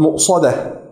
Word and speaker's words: مؤصدة: Kemudian huruf sad mu'sadah, huruf sad tebal dan huruf dal tipis. Mu'sadah, innaha 'alayhim mu'sadah, mu'sadah.